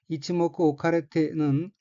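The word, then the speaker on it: 一目置かれて: 다음에 하늘색 부분 어휘는 이치모쿠 오카레테라고 읽고 포함된 한자는 한일, 눈목, 둘치자입니다. 이치모쿠 오카레테는 바둑에서 하수가 먼저 한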